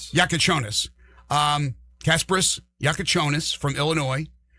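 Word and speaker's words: Jakučionis: Kelwini Hakez, uh, Casperis Yakon, Yakashanis, how do you pronounce it? Yakonis. Yakonis.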